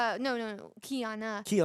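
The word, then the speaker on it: Qiyana: Is that Kiara or Kiara? Kiara. Yeah. Uh no no Kiana.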